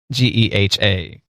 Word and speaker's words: GEHA: Okay, so about Yeehaw. Yeehaw, parentheses, Government Employees Health Association Incorporated. Pronounced GEHA, close parentheses.